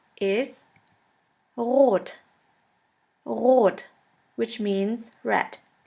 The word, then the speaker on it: rot: And the German word with the letter R is rot. Rot, which means red. S. S is pronounced like the sun.